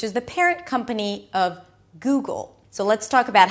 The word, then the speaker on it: Google: Then, of course, we have Google. You start with a G sound, then it's the oo as in food.